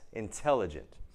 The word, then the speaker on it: intelligent: situation same thing here intelligent two reasons why this is not a d the NT and this is stressed intelligent and photography photography wears